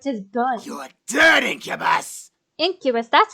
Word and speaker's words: Incubus: Incubus, that's how you say it.